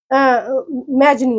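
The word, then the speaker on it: Mazzini: इस आपकी बुक में जो लिखा है नाम, वो लिखा है मैथिसिनी, ठीक है, मैथिसिनी लिखा है, लेकिन मैंने इसका नेट पर प्रोनाउंसिएशन देखा तो उन्होंने मैजनी बता रखा था, ठीक है, मैजनी, उन्होंने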